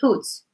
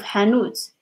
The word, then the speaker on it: hanuts: But sometimes in some words like hanuts, we have like to pronounce them because it's going to hear like as another word, like hoots, like as Shivam heard first, like hoots instead of hanoots, especially because I don't pronounce the middle consonant like really strong.